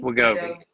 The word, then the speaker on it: Wegovy: I always pronounce it wrong. Is it Wegovy? Wegovy? Wegovy.